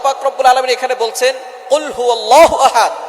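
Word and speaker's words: قل هو: আল্লাহ পাক রাব্বুল আলামন এখানে বলছেন কুলহু আল্লাহু আহাদ। এখানে কফ দিয়ে পড়ছেন কিন্তু অনেকেই ভুল করে উচ্চারণ সঠিক না হওয়ার কারণে তারা পড়ে কাফ।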